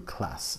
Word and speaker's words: Classé: And I always say Grand Cru Classé, C-L-A-S-S-E. No, it's the E is silent, so it's just Grand Cru Class.